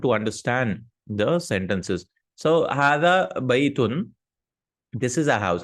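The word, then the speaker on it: هذا: But hada is written like this. Notice that. Okay. But we pronounce it hada, like an alif.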